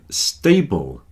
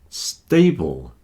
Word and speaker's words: stable: Stable, stable. It rhymes with table.